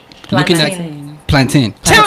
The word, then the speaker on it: plantain: word okay PL eight and ta I n plan teen people hope 19 so rice and peas like